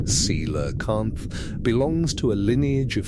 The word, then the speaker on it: coelacanth: The coelacanth, pronounced seelakant, belongs to a lineage of fish that first appeared in the fossil record approximately 400 million years ago.